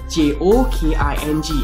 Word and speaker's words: joking: Today's word is J-O-K-I-N-G. J-O-K-I-N-G. How do you pronounce this word?